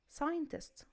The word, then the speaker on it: scientist: يبقى أنا في الثري sentences دول أو في الثري examples عندي أو في الثري words دول ما نطقتش حرف السي.